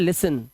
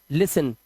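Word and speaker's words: listen: अब देखिए कैसे यहां पर देखिए टी एन आया तो इसे पढ़ते हैं लिसन। क्या पढ़ेंगे? लिसन टी साइलेंट है।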